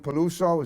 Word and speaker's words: Peluso: Her name is Lorraine Miriam Peluso.